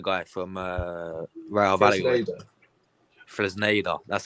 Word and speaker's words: Fresneda: I think we're trying to get that Ivan Flandesa guy from Real Valladolid. Fresneda.